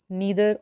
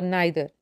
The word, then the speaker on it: neither: There are three distributive pronouns: each, either or either, neither or neither. Both the pronunciations are correct.